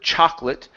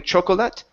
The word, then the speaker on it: chocolate: Now, in the word chocolate, this second O is not pronounced. So instead of saying chocolate, it's chocolate. Chocolate.